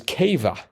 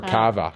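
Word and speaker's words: Kava: effects and it was Cava yes I I'm guessing that's how you pronounce it it could be ca or Cava I think it was Cav k a v a I think it's Cava but just the other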